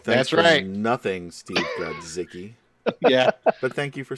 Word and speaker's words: Grodzicki: And Steve, and I did talk with Steve, it is Grodzicki. Yeah, so when you look at the name, it seems pretty simple to pronounce.